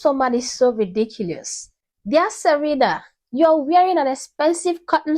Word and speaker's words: Serena: He called her Serener instead of Serena.